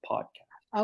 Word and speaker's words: podcast: the stress is on pod so it's like podcast okay give me some male name come on